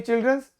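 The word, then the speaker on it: children's: अब दोनों को बोल के देखिए, चाइल्ड्स चाइल्ड्स, ये वाला हमने क्या बोला, प्रोनाउंस किया चिल्ड्रंस, ये गलत है, लेकिन ये चिल्ड्रंस करेक्ट है।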